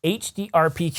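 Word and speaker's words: HDR PQ: impressive and along with catalog three we get hd rpq did i say it right this time yes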